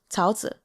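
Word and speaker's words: 桃子: It's Tao Zi. Tao, second tone, Zi, Tao Zi.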